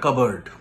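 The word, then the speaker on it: cupboard: next number seven number seven skeleton in দা কাবার্ড skeleton in the covered কাবার্ড বানানটা হচ্ছে সি ইউ পি বি ও এ আর ডি কাপ বোর্ড আমি ছোটবেলায় কাপবো বোর্ড পড়তাম আই was actually from Bengali medium it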